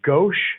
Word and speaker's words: Ghose: Uh it's Ghosh. So, it's pronounced with an H at the end.